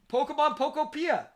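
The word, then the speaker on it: Pokémon Pokopia: Pokemon Pokopia.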